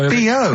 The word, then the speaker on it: B.O.: No, it's B.O. It's B.O. That's pronounced B.O. Well, yeah, but you've got to play... It's not pronounced bow, and it's not spelt bow. Who calls it bow? Everyone knows it's B.O.